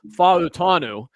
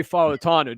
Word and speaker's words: Fautanu: As Brian had a nice post on Oneberg this past week on how to correctly pronounce our 1st-round offensive tackle, Fautanu. Troy Fautanu.